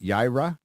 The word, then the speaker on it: Yaira: to say I got to say it right yayra yeah I said it right this one oh